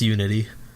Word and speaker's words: UNI.T: But no, it's Uni period T. But it's pronounced Unity.